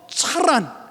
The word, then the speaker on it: 하란: 아, 이제 데라의 아들의 이름으로서 하라는 해라고 하는 발음으로 하란이라고 발음이 되지만 아 지명으로서의 하란은 그렇게 발음되지 아니하고 차란 또는 카란이라고 발음이 되는 그런 모습들이 있게 됩니다.